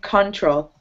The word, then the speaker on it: control: So you were saying control. Exactly, yeah. Yeah, so it's just emphasizing the second syllable, control.